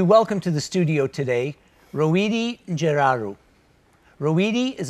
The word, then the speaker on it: Reouhidi: did a pretty good job of pronounce the pronunciation its row Ed so row Ed oh so in my